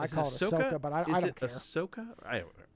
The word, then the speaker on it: Ahsoka: It goes, Ahsoka. Ahsoka.